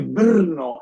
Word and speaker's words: Brno: grande que en Checo se dice Brno, es muy difícil pronunciar, es B larga RNO.